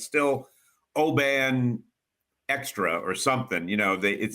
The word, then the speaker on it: Oban: And it's interesting too, because I've always called it Oban. I've been drinking this probably for 25 years, but my Scots friends tell me that it's actually pronounced Oban.